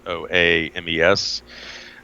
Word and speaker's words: Soames: Her mother was a woman named Charlotte Somos. I believe that's how the family last name is pronounced. It's Soames.